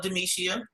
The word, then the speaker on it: Demishia: just like yeah okay long as you say it at all still all four syllables get it out and